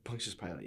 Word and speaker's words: Pontius Pilate: Immediately after Pilate's dream, Barry Dennen playing Pontius Pilate. Is that how you say it? Pontius Pilate, yeah.